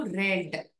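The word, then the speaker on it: read: நீ படிச்சிருக்கியா have you ரெட் மடோல்ட் டுவா have you ரீட் அப்படின்னு சொல்லக்கூடாது அந்த வாக்கியத்தை படிக்கிறத ஹாவ் யூ ரெட் அந்த ஆர் இடி உடைய வார்த்தையின் உச்சரிப்பு எப்படியாக இருக்க வேண்டும் என்றால் ரெட் ஹாவ் யூ ரெட் மடோல்துவா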